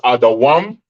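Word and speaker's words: אדום: Edom in the Hebrew is pronounced Adawam.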